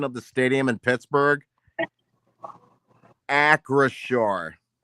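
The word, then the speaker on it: Acrisure: Yeah, I just I just checked the pronunci pronunciation of the stadium in Pittsburgh. Acure.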